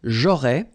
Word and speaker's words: aurais: J'aurais, so final S, not pronounced. J'aurais. Then same thing here, tu aurais, you don't pronounce the final S.